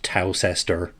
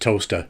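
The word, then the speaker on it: Towcester: In America, it's probably pronounced talcester. In Britain, it's pronounced toaster, like the kitchen appliance.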